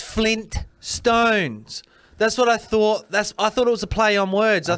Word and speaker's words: Flintstones: Is it Flynn Stones or Flint Stones? T to me.